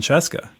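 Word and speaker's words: Scieszka: But that's more or less how it happened with you and John Sheska with the true story of the 3 little pigs. First off, kudos for pronouncing Sheska correctly.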